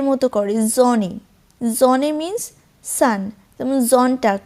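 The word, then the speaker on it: Sonntag: Johnny জনে means সান জন্টাক জন্টাক মানে হচ্ছে সানডে জন্টাক জন্টাক মানে হচ্ছে সানডে তাই এস এর উচ্চারণটা ওরা জ এর মত করে এন্ড ফর টিশ ফর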